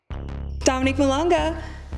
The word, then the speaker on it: Dominique Malonga: Dominique Malonga, Bienvenue au Courtside Club.